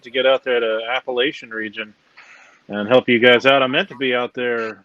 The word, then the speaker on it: Appalachian: You're going to have to call it Appalachian. They might club you up here if you say it wrong.